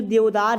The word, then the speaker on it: देवदार: अब बात करते हैं जो देवदार है, ठीक, देवदार, ठीक, जिसको कभी कभी प्रोनाउंसिएशन में देवदारा भी पढ़ दिया जाता है, तो वो बातें गलत नहीं होंगी।